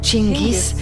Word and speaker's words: Chinggis: C'est curieux que ce nom ait fini par devenir Genghis Khan. On pense qu'à cause de la façon dont le nom était écrit en persan, la prononciation a changé.